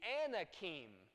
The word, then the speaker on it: Anak: I said ah yes you're exactly right the Anakin about that Anakin and their descendants of anak